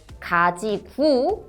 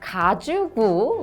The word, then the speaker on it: 가지고: And you will hear so many natives pronounce 가지고 as 가지구 or even 가주구 like Felix did.